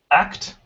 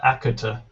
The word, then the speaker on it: act: Act. Act. Not akuta.